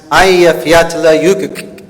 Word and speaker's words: Eyjafjallajökull: And in case you're curious, the volcano's name is pronounced Eyjafjallajökull.